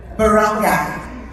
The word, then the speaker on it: Barangay: I want to applaud you this morning, the leaders of the village Can I get the pronunciation? Barangay.